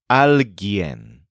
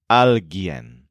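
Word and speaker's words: alguien: the human thing is alen which stresses Yen it's spelled a LG u i n but the U is silent alen so now we' fil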